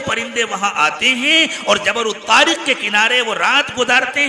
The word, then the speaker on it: جبل الطارق: کو جبرالٹر کہتے ہیں، جبل الطارق جو اصل نام تھا اس کا، اور جس کا تلفظ بگڑ گیا اور اس کو جبرالٹر کہا جاتا ہے، اس جگہ پر دنیا